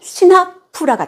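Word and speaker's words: सिंहपुर: 산스크리트어로 발음하자면 시나푸라가 되겠습니다.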